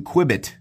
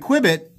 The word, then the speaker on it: Qubit: might remember me reviewing the new Qubit, as I'm pronouncing it, Q-U-B-I-T.